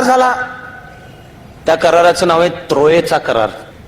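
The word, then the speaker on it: Troyes: त्या कराराचे नाव आहे त्रोएचा करार त्रोए या शब्दाचा spelling T आर ओ वाय इ एस आहे फ्रेंच मध्ये हे शेवटचे जे एस असते त्याचा उच्चार येत नाही तो पुन्हा गोल येतो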